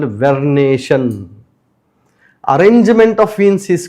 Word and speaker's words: vernation: It It has to be pronounced as vernation.